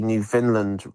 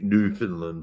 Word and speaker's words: Newfoundland: the Newfoundland Regiment and I think Newfoundland is the way you pronounce it, isn't it, JFC? Newfoundland. Yeah. People say Newfoundland and all this, but it isn't, it's Newfoundland. Um but uh New New It's like a new fun like having fun and then land.